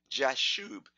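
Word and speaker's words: Jashub: in numbers 26 24 his name is listed as Josh Shoob jas h ub so this might be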